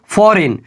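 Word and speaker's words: foreign: नहीं देगा अगला देखिए फॉरेन क्या बोलेंगे इसको फॉरेन बोलेंगे याद रखिएगा या एन से पहले जी आया है इसी के वजह से जी का उच्चारण नहीं होगा अगला देखते हैं एग्जांपल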